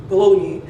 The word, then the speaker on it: bologna: i could find to doctor scott would be baloney which to me it's weird that this word is pronounced bologna apparently which i know this bologna